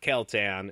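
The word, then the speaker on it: Keltons: magic the same way caltan kiltan it is not kel-tan in fact it is spelled k-e-l-t-o-n-s i i don't know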